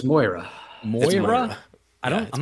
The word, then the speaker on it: Moira: point anytime also Patty if you call Moira Myra one more time it's my listeners will probably scream at us no it's more it's Moira I don't I'm not